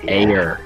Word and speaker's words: Ayer: I know I spelled his name, last name wrong, but David Ayer. We'll go to Jay. I have David Ayer. A-Y-E. It's Ayer.